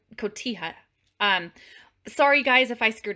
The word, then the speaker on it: cotija: I think it's pronounced cotija.